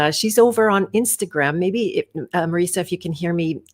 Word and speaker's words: Marisa: I've been saying her name wrong this whole time, but she says she's used to it, but let me know today that that's exactly how you say it, Marisa.